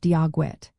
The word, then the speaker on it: Dia Dhuit: Well, the proper way to say Dia Dhuit, which means hello in Irish Gaelic, is pronounced Dia Dhuit.